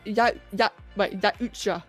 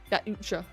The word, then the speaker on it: Yaucha: Apparently they're pronounced Yaucha. Oh wow, okay. Thank you. Yaucha.